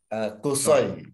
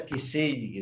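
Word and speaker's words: قصي: Kusoi. Nah, tapi karena ini nama, boleh saja Kisi gitu. Kalau memang namanya Kisi.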